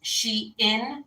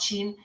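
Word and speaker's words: Shein: something off of Sheen I think it's pronounced she in but I call it Sheen um it's a yoga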